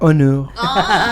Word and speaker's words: Onur: A ver, decime Onur, poniendo la trompita. Onur.